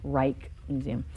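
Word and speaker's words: Rijksmuseum: for you yeah um so in dutch l let's say i j is often a long i sound as in like reich's museum which is spelled r i j k r i j k reich museum and i j is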